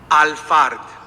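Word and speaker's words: Alphard: Al-Fard. They spell it A-L-P-H-A-R-D, but it comes from the Arabic Fard, F-A-R-D.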